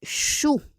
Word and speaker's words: chaud: Next, we have ensuite chou. Chou, on prononce pas le D pour masculin.